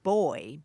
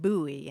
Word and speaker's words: buoy: is uh British and he said boy be you know boy and uh she pronounced it buoy and so they had